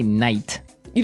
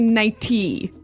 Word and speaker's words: nighty: But you don't say night. You don't say nighty. You say nighty. Yeah. You you make the t a d nighty.